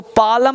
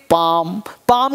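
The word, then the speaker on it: palm: रहता है जैसे अब इसको पालम नहीं पढेंगे पाम का मतलब हथेली इसको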